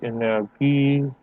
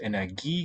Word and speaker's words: Energie: geben sie die Energie dann in Form von Licht unterschiedlicher Wellenlänge ab, die Aurora entsteht. Sehr gute Aussprache. Excellent stress placement in the right place. Energie gets it at the end.